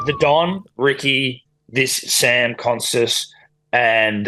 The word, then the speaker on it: Konstas: How do you spell it? It's K-O-N. K-O-N-S-T-A-S.